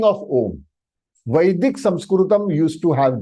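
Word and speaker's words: ॐ: Half ma is So the pronunciation of this om is om, om, om, om, om. Many people are confused. In yoga, they say no, it is oma, oma, oma. And that is for exercise purpose, please.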